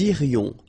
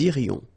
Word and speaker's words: irions: Nous irions, final S not pronounced. Nous irions.